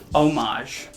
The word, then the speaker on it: homage: compliment or homage homage homage homage homage silent h mistress jen says one